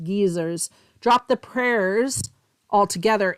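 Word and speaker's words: guisers: Geysers, that's what they're called in Scotland. There's it's spelled gu i s e rs, but they're pronounced geysers.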